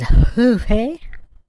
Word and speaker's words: Ruffy: It's not Ruffy? It's pronounced Hoofy? Hoofy? That's funny. Man, they're dragging this out hardcore. Oh, he's Brazilian. Okay. So it is Hoofy.